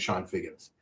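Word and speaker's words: Chone Figgins: I know his name is Sean Figgins, but he spelled his name Chone for some reason. So every time I saw it, he was Sean Figgins.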